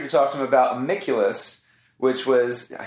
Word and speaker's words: Amiculus: But we're also here to talk to him about Amiculus, which was, I said it right.